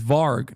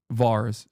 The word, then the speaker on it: Varg: Is Varg, not Vars.